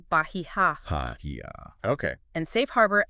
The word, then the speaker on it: Bahia: Suntex's Bahia Marina, and the locals say Bahia.